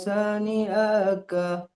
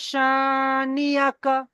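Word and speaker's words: شانئك: ইন্না সানিআকা আকা টান হয়ে যাচ্ছে। ইন্না শানিয়াকা।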